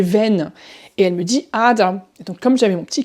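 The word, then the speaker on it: Ader: en allemand très souvent quand on a er en terminaison et bien ça se prononce presque plus comme un a comme aba aussi comme mais ou la veine.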